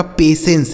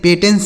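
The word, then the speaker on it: patience: ये हो गया आपका पेशेंस। इसे पेट पेटेंस से नहीं पढ़ेंगे। पेशेंस।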